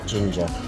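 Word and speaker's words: Ginja: Ginger. Yeah. Is that it? Ginger? Oh, it is just, you say it ginger.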